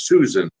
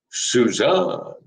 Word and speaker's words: Suzanne: to make to you i've been mispronouncing your name as susan all these years i didn't know your name was suzanne and he turns away